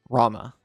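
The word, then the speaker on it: Ramuh: Rama. Which is not how I pronounced it as a kid, but feels nicer in the mouth.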